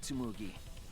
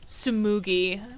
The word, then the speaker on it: Tsumugi: Isn't that right, Tsumugi? Sumugi. I always say her name wrong.